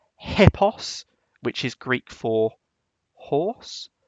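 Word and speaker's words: ἵππος: that's he then we've got p p o hipos which is Greek for horse like in hippopotamus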